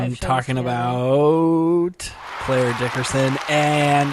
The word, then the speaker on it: Clare Dickerson: Wow, you pronounced both of our names right. It's a pleasure to be here. Well done. You've done your homework. Jeez. People say Clare Dickinson and Cheya Cary. Cheya.